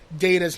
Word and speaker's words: Data: He says that the pronunciation of the word differed to Spiner's. To settle the data versus data debate, Gene Roddenberry created a new rule for the show on the spot.